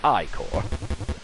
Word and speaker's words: ichor: That's pronounced ichor.